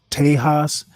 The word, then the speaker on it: Texas: It's always Texas pronounced Tejas. No, I'm not a Texan. As a matter of fact, I've only heard Texans call it Texas. So I'm going to go with the native pronunciation.